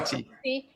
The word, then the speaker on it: Swati: He is also Sangoma in the Zawi, you're going to have to pronounce that. I'm sorry. Swati.